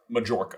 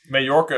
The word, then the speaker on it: Majorca: holiday home, also in Majorca. Also in Majorca so they can join Yvonne. Or, as I pronounced it for the first 37 years of my life, Muh-jorca.